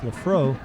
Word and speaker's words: Laprevost: Lafro, and it's Laprevost is the way it looks, but it's pronounced Lafro, is going to kick